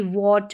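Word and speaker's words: what: बाद में एच है डब्लू के बाद में एच है और एच के बाद में ए ई आर और वाई इनमें से कोई लेटर्स है तो वहां पर जो है एच क्या रहता है साइलेंट रहता है एच का उच्चारण नहीं होता है जैसे कि व्हाट वेयर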